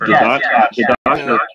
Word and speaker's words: Didache: I think it's pronounced Dadat.